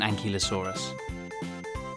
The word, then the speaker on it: ankylosaurus: velociraptor bye velociraptor how do you say that again an key low saw russ how big was an ankylosaurus it was as long